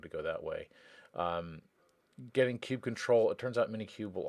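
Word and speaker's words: kubectl: But if you just follow the Minikube instructions, you'll also need the kube control, or kube cuddle is the way I've always heard it pronounced. Apparently kube control is the proper term now.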